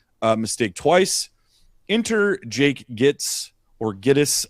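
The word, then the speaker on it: Gittes: Enter Jake Gits or Gettis. I think it's pronounced Gettis. It's funny cuz it's Giddis cuz you know, no across this movie keeps calling him Gits.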